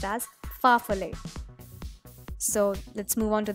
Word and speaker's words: farfalle: its actual name is farfalle pasta it is pronounced as farfalle so let's move on to the next so